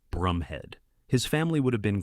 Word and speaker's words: Bromhead: Incidentally, whilst the name is spelled b r o m h e a d, it's actually pronounced Brumhead.